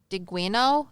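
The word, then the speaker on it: Diegueño: tribes of native americans were the guino i believe is how you say it d-i-e-g-u-e-n-o and there's a i forget what it's called but the squiggle line over the n uh-huh i can't remember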